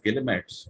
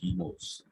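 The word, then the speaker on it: guillemets: quotation marks are actually called they're written as gillimits but the correct range pronunciation is chemos then you have symbol for infinity uh for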